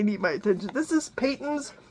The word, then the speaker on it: Patons: This is Patons, Patons. I've heard it pronounced a million different ways.